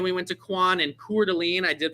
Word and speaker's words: Coeur d'Alene: Then we went to Quan and Coeur d'Alene. I did pronounce that right the first time.